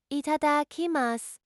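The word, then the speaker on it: いただきます: Pronounce it itadakimasu.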